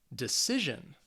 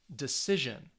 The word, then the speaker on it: decision: they have three syllables the words end with tion or sion the stress is on the second to last syllable so it's going to be on that middle syllable so let's say these